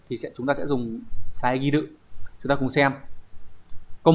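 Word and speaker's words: 遮る: Đọc là saegiru.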